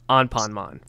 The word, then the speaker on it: Anpanman: with the Japanese client they went with the Japanese pronunciation on ponman so on ponon yeah